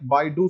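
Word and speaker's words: BeiDou: They pronounce it like Baidu system, Baidu navigation system, Baidu navigation system.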